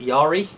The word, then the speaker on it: yari: look cheap Yara gosh II yah how to pronounce it yari yes you go oh yeah she Gary oh